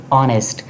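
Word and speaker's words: honest: ऑनेस्ट। ऑनेस्ट ईमानदार को कहते हैं। एच साइलेंट है।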